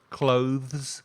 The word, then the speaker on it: clothes: say it with us clothes you have to put your tongue between your teeth it's a bit tricky